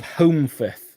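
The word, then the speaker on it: Holmfirth: a very very tiny town called home fifth so it's spelt h o l m and then f i r t h now you won't be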